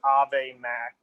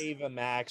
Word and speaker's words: Ava Max: Number four is Selena Gomez, and number five is Ave Max. Can't keep my hands from myself. I don't know who Ave Max is. It's Or I think Ava it's pronounced Max. Ava Max.